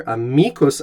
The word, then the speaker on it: amicus: american english not latin the word in latin is amicus with a long eye and an accent on the middle syllable there a mycos autumn now this could